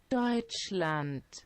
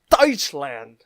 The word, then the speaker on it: Deutschland: this is how you say German in Germany's died slant Deutschland all right stay with me touch land all right and this word right here is